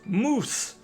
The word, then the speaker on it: mousse: Mousse cups or mouse cups? Mousse! Dessert mousse.